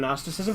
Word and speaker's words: gnosticism: the little ones too why is there a g in gnosticism it's a silent Gary it would be pronounced gnosticism if it wasn't it would be like knocked it it'd be like wouldn't sound good gnosticism if the g wasn't silent show me your caps